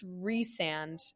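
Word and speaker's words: Rhysand: It's Reand and it's Reese.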